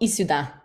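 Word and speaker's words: Issoudun: tiny town which okay I'm gonna try to pronounce it right called isuda i-s-s-o-u-d-u-n um and it's it's a tiny tiny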